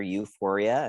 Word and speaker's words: Youphoria: the work with gender euphoria and it's spelled y-o-u like euphoria and yeah the link